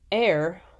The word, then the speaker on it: ere: Air, ere, it means before. It's an old-fashioned term pronounced air.